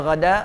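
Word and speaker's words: غداة: Jadi kalau ada kalimat ghada ingat bacanya ghada.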